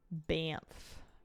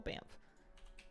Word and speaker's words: Banff: Banff. I mean, lots of places, but I'm thinking like, yeah, that's the first thing that comes to mind. Spelled B-A-N, what is it? B-A-N-F-F? How do you spell Banff?